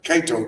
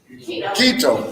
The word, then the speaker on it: keto: it's called the the the Kato diet or is know how you pronounce it is it keto yeah keto diet now same basically the